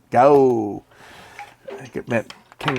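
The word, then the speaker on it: Gaoo: The GAO, that's how they like to pronounce it. GAO.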